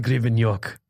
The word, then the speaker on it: Grebeniuk: real name is gonna be nuke grievin York they say it right very right yeah that